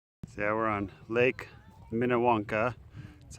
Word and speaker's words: Minnewanka: So yeah, we're on Lake Minnewanka. That's how we think we pronounce it.